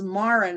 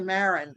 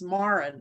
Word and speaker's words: Marin: visiting her parents, but Marin is Marin, it rhymes with bar. And we tend to say Marin, so it's Marin.